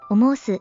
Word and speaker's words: 思ほす: おぼす、のように濁らず、おもうす、と読みます。